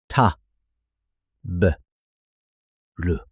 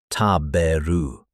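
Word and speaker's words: 食べる: Ta, b, ru. 3 equal beats, not taberu, just ta, b, ru.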